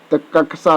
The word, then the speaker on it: कक्षा: भी ऑप्शन सही है कक्षा शब्द का शुद्ध उच्चारण है कक्षा दोस्तों कक्षा आदत सी